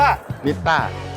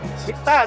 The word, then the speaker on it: MITTA: อะไร นะ ครับ 1 2 3 อ่าน ว่า มิต้า ขอ อีก ที ชัด ๆ มิต้า มิต้า Studio Studio เป็น คำ ตอบ สุด ท้าย นะ